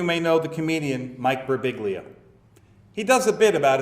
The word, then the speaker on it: Birbiglia: Hey, you know your name's supposed to be pronounced Birbiglia."